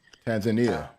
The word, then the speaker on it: Tanzania: Tanzania.